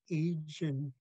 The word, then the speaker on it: Ijin: You would drop the G at the end, and you would say Ijin.